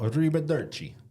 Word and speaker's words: arrivederci: You see, he said, ciao, arrivederci.